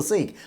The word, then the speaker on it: Sikh: so I don't know is it sick or seek I think it's sick but when it comes to English the term changes to seek uh due to the accent and the pronunciation of the language so many say sick